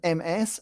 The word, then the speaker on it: Ms: It's written MS and pronounced Ms.